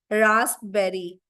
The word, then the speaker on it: raspberry: तो प साइलेंट एक तरह से देखा जाए तो, है ना. आधे बच्चे, अब देखो एक बच्चे ने रेस्पबेरी, वही जो मैं सोच रही थी वही लिख दिया. बताओ लविशा ने, मिताक्षी ने. रसबेरी नहीं होता है, इट्स रास्पबेरी. पी साइलेंट होता है.